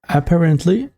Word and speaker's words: apparently: Apparently, or you can just, it's like a glottal T in the American accent. You can say apparently. Apparently, it's just for a smoother pronunciation.